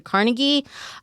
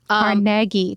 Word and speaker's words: Carnegie: The highest on my list is Forsyth mini golf in Carnegie. Carnegie, Carnegie, Sophia. I'm never really going to get that pronunciation right.